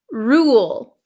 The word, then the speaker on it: rule: The second one is rule, rule, rule. There's almost a W sound.